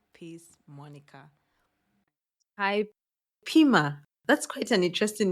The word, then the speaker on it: Pimer: struggle to pronounce it it's pronounced as Pim wow Pim is it French no it's a name and it's uh by the AL tribe oh my God